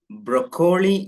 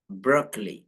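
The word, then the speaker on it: broccoli: ബ്രോക്കോളി come on ബ്രോക്കോളി ബ്രോക്കോളി okay ഇത് ബ്രോക്കോളി എന്ന് വായിക്കരുത് ബ്രോക്കോളി എന്ന് വായിക്കരുത് എന്താണ് ഇതിന്റെ ശരിയായിട്ടുള്ള ഉച്ചാരണം ബ്രോക്ലി ബ്രോക്ലി ബ്രോക്ക് ബ്രോക്ക് ബ്രോക്ക് ബ്രോക്ലി ബ്രോക്ലി ബ്രോക്ലി ബ്രോക്ലി ഇവിടെ കോ എന്നുള്ള ശബ്ദം വരുന്നില്ല ഓക്കേ ആദ്യത്തേതിൽ ബ്രോ എന്ന് വായിക്കാം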